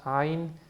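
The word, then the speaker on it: עין: It's a sound that is made deep down in the throat. It's kind of like ah. But for most part in the modern Hebrew, they do not pronounce ayin, and it's a silent letter.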